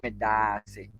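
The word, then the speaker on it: Medaase: kindly take note of how we pronounce or mention the medase. It is two letters that has been doubled. That is a vowel a, and so we say medase, and so that is thank you.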